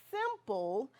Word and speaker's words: simple: Like in the word simple, I does not say its name. Why not?